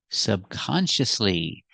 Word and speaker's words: subconsciously: the word subconscious to subconsciously now we have four syllables subconsciously the stress is on the second syllable subconsciously and the fourth